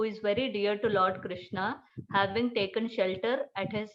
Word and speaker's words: Krishna: mantra or great mantra krishna pronounce krishna and rama rhymes with drama are sanskrit words hare